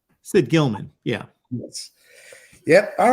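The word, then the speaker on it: Gillman: know exactly who I Sid Gilliam uh correct I'll give you credit um even though you butchered the name horrendously of Sid Gilman Sid Gilman yeah yep all right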